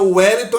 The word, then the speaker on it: Wellington: dos nomes Wellington né o começo da palavra Wellington é com w Mas aí tem um som de u mas se formos escrever